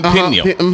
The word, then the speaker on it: Peniel: Am I saying it right? Peniel? Peniel. Yes.